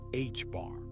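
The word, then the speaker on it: ħ: Delta represents the uncertainty in momentum and hstroke pronounced hbar is a very small constant that relates to plank's constant.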